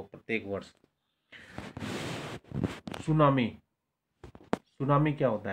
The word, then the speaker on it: tsunami: उसी प्रकार से जो सुनामी शब्द है वो जापानी भाषा का शब्द है, TSUNAMI, इसमें टी साइलेंट रहता है, सुनामी, है ना।